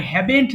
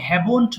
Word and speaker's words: haven't: এবার নেগেটিভটা পড়বো, দেখেন আই হ্যাভেন্ট দিয়ে পড়বেন। হ্যাঁ, এটার একটু এটা শুনবেন সবাই, আমার প্রোনাউন্সিয়েশনটা। এটা অনেকে হ্যাভন্ট বলে, হ্যাভন্ট না কিন্তু, remember I হ্যাভেন্ট done, he হ্যাজেন্ট ডান, এটাকে